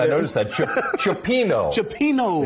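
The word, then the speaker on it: cioppino: said i noticed that chopino is the correct pronunciation correct yep um some people call it scipiano kind of depends on like where you're at in the country okay um i feel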